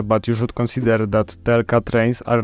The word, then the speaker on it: TLK: First option, TLK. That's how we pronounce this abbreviation.